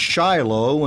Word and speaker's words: Shiloh: is the former mayor of Shiloh the place pronounced Shiloh and hundreds of biblically named places in America